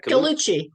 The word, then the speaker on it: Gallucci: Victoria Gallucci. Did I say it right? Gallucci.